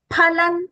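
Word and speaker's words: फलम्: Rajasastu phalan. Again, pa, not for.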